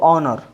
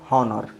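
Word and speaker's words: honour: इसी तरह इसको ऑनर, नॉट हॉनर, इसको एयर, इसको ऑनेस्ट, इसको ऑनरेबल, ठीक है।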